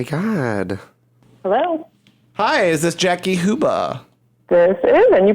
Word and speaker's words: Jackie Huba: phone oh my God hello hi is this Jackie huba this is and you pronounce that perfectly hi Jackie this is f